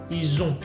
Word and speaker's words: ils ont: Ils sont, ils ont. D'accord. Y como pueden notar, yo digo on al final. No pronuncio la T, ni pronuncio la N.